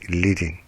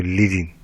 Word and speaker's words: leading: name for line spacing you say it is leading leading the rhythm is pronounced like wedding wouldn't say living to form on the